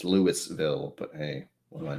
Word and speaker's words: Louisville: yes they probably will so louisville louisville even though it's lewisville but hey what do